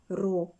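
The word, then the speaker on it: ρ: вами буква грецького алфавіту читається Ro не р Аро Отож M /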